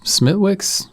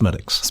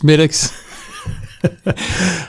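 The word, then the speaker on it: Smithwick's: And then I think as far as the beer goes, obviously regular Guinness Smidwix. Yeah, it's it's pronounced Smidix. Smidix.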